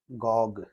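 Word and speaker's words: agogue: अगोग, इसका उच्चारण आप ध्यान रखिए, इसका उच्चारण होता है अगोग, अगोग। इस चीज को ध्यान रखना।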